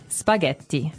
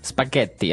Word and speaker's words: spaghetti: and what about spaghetti spaghetti spaghetti oh you pronounce the Double T as well that's right okay so